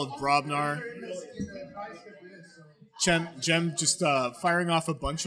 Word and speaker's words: Cem: Yeah, he said it was Jem.